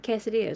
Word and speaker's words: quesadilla: You actually had it right the first time. Did I? Quesadilla. Yes. Is that how you say it? Quesadilla. There you go. So like it's like saying the letter K.